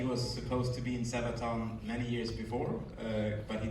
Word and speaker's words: Sabaton: No, it's Sabaton pronounced Sabaton.